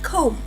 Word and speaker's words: comb: So, when a word ends in MB, the B is silent. So, we have comb.